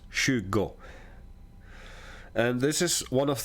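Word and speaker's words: tjugo: or Don nitton okay Shugo as you can see This spells t j u g o but it's pronounced Shugo and this is one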